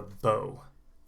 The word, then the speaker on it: bow: archery with the arrow you have a bow oh bo and then what you